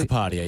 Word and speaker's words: Sheil Kapadia: Did I pronounce that correctly? Sheil Kapadia, yep.